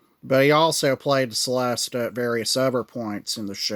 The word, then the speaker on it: celesta: he played, was the Celesta. The Celesta, also known as the Celesta if you're Italian, because C is supposed to be pronounced with a ch sound, but we call it the Celesta.